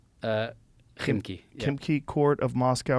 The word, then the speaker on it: Khimki: Kimki? Khimki.